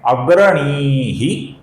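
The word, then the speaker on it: अग्रणीः: यहां पर दो शब्द है अग्रणीह और ग्रामणीह। ग्रामणी का ग आगे आने के कारण अग्रणी का जो विसर्ग है इसका र होता है।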